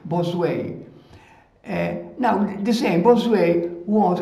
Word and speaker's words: Bossuet: It's written B-O-S-S-U-E-T, and we pronounce it Bosuet, Bosuet. That is the exact pronunciation, Bosuet.